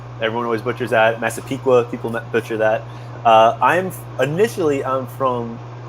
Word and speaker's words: Massapequa: Massapequa, people butcher that.